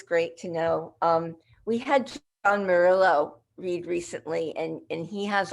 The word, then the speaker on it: Murillo: We had John Murillo read recently, and he has a lot of very long narrative poems, but that braid a lot of different events. Say his name again. John Murillo.